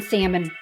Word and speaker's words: salmon: Well, for one, he used to pronounce the L in salmon, and he was very cheap.